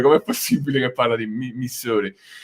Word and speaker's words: Missouri: Missouri, del Missouri.